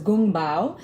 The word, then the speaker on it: Kung Pao: He was from the Sichuan province, and Kung Pao, actually in Chinese, sometimes it's pronounced as Gung Bao, is a title.